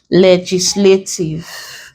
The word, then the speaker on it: legislative: We're stressing the first syllable of the word when the word ends in these letters.